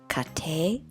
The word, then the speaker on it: 家庭: write the two characters which are read kate which are from kate